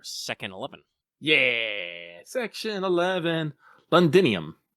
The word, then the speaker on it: Londinium: eleven yeah section 11 londinium I pronounced that right right yes it is yay the so hey